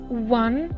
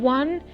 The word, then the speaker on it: one: o so the word one in this phrase sounds like we have pronounced it with like a w by saying one and not on so